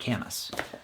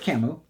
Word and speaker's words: Camus: We are covering Albert Camus' The Myth of Sisyphus. Now, last week, I was a big dum-dum and said his name was Albert Camus.